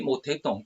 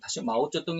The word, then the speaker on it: 마오쩌둥: 수 있을 것입니다 아 중국의 모택동 마오쩌둥 이라고도 5 중국 발음으로 마우저 등이라고 그러고 우리 한번 바르면 멋에